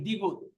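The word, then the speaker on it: 디귿: তারপরে এই দ্বিগুত, দ্বিগুত, দ্বিগুতের উচ্চারণ হয় দ, থ, ত।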